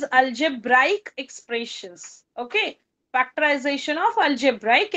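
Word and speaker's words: algebraic: जो शब्द आहे तो अल्जेब्रिक नाहीये बरेच जण अस म्हणतात फॅक्टरायझेशन ऑफ अल्जेब्रिक एक्सप्रेशन पण तुम्ही स्पेलिंग मध्ये पण हे चेंज तुम्हाला दिसेल की हा ब्रिक नाहीये इट इज अल्जेब्राईक expressions okay factorisation of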